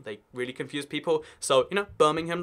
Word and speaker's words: Birmingham: No, we just don't say the A. Birmingham. Just skip that A sound. We don't need it anyway. It's just slowing us down.